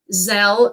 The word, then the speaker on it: Zelle: Zelle rhymes with, oh, I'm sorry, I'm not supposed to read that, that it rhymes with the L.